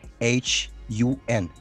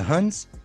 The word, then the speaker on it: Hun: how to say it in english but you spell it h-u-n how do you say that they were from